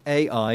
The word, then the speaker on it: AI: AI is C, so to speak. It's an initialism. It's the first letters of the words artificial intelligence, but it's not pronounced like a new word, just the initial letters.